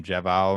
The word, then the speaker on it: JaVale: Like, how do you pronounce his name? JaVale McGee.